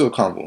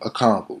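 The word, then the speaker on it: Okonkwo: That's the it's Okonwu. I'm tripping. Who's Ronco is a pass rusher from Oklahoma a couple years ago. Yeah, Okonwu. Chidu. Can we say his name? Chigoziem Okonwu.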